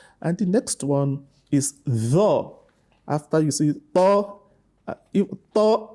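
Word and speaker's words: طاء: Tho is a heavy letter. The back of the tongue rises up when you pronounce tho, whereas that of ta, it doesn't do so.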